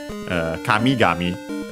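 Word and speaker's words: 神々: Kamigami. The accent there is on the mi because of the doubling. Yeah, it's a compound, and yeah, actually accent on the last syllable of the first part.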